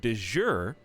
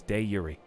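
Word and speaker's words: de jure: happy but no it's dayuri stop that's how you say it we looked it up we found the original latin pronunciation it's dayuri can we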